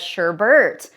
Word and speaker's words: sherbet: really, because there's only one R and not two R's in this word, but yet we say it as Sherbert.